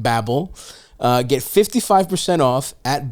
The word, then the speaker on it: Babbel: neonic device for you sort of sounds like BBL when you spell it out Babble uh get 55% off